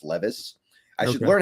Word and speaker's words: Levis: Levis or Strat or I think it's Levis actually people keep telling me in my comments it's Levis I should learn how